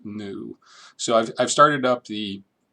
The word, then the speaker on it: GNU: And yes, I am saying GNU. GNU and GNU Octave is an acronym, and it's pronounced GNU, although the African animal is pronounced new.